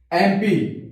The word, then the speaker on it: MP: जैसे लिखा यहां पे his father is एम पी इसको एम पी पढ़ेंगे।